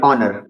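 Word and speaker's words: honour: से बाद में ओ क्या पढ़ेंगे ऑनेस्ट सॉरी ऑनर ठीक उसके बाद शुरुआत एच से बाद में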